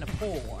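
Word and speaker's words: Gnapoor: I'm the poor. The G is silent when I sneak in your door.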